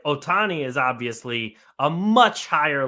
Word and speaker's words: Ohtani: Jon Porter and showy sh Otani right that's how you say it show yeah okay